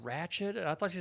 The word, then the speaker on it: Ratched: Her half Brazilian side just thinks that it's pronounced wretched, or she's trying to do like a Moira Rose. Like, oh, Ratched. that's just wretched.